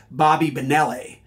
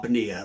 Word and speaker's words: Bonilla: player into an Italian Bobby Bonilla a former Pirates baseball player was Bobby Benelli um and I would try to explain him Graham there's nothing Italian about Bonilla like he's no Benelli I love Benelli so she just turned